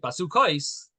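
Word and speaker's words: בסכת: The Gemara answers that even though we're pronouncing it basukais, but really in the pasuk it actually doesn't have those vavs.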